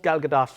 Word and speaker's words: Gal Gadot: embodiment of wonder woman is it gal gadot i've seen her i've seen her say she pronounced herself gal gadot no it's gal gadot i've asked her trust me but it's